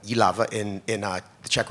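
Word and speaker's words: Jihlava: yava which is in not pronounced jaava but yava in in uh the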